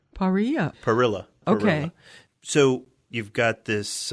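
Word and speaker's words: parrilla: is a Wood-Fired Grill they call it a paria it's an open pit with you know a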